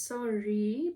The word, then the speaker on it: sari: Okay, so it's sorry, but how do I spell it? How do I pronounce it? Pronunciation. Sorry. I was right. Sorry.